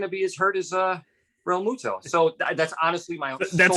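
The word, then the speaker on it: Realmuto: Real Muto.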